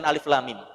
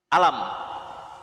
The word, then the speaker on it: Alif Lam Mim: la ala Hasbi alkitabah dibaca bukan berdasarkan tulisannya kalau berdasarkan tulisannya dibacanya bukan Alif lam mim Tapi apa alam kalau dibaca Berdasarkan cara menulisnya Alif Lam Mim cara membacanya adalah alam tapi dibaca berdasarkan huruf-hurufnya Alif Lam Mim ya berdasarkan hurufnya